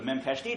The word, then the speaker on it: memcached: So the memcached driver, memcached, is it memcached or memcached? Am I pronouncing it right?